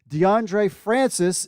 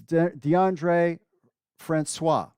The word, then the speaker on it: DeAndre Francois: from our crew here, DeAndre Francis is DeAndre Francois. I was saying it wrong.